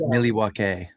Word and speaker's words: Milwaukee: Properly pronounced Milwaukee.